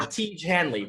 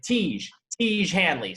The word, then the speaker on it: Tiege Hanley: slash j and really it's pronounced like siege like tiege tiege hanley so uh this is